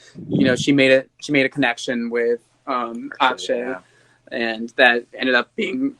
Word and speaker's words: Akshay: Oh, I also noticed, this is kind of random, but Lavana finally learned how to pronounce Akshay. She was saying Ashkay for the longest time.